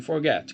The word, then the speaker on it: forget: sílaba mais forte então aqui no caso a sílaba mais forte é a segunda é a sílaba final então eu falo Forget Ok Forget a sílaba tônica é a final ok e se você